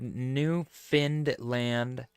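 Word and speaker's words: Newfoundland: support now janx said new finned land is how I often heard it pronounced don't live anywhere near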